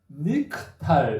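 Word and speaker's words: נקטל: 니팔은 니크탈 이렇게 카탈이 니팔 형태로 바뀌면 니크탈 이렇게 발음을 한다는 거예요.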